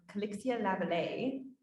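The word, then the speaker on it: Calixa-Lavallée: If you're wondering how to say the address, it's 3819 Avenue Calixia-Lavallée.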